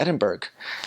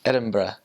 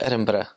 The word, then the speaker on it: Edinburgh: going to go to Edinburg and she's like no never see that again CU that's not how you say it I like oh it's like it's Edinburgh so Edinburgh it's they they also